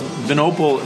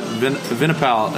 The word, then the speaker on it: Vinopal: minnicott oh that's close venople is how it's pronounced but vinaipal is like pretty much what everyone says they like they like the wine friend piece of it people call me vino